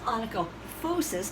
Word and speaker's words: onychophosis: So this is onychoptosis, and this is onychophosis, because PHs are pronounced like Fs.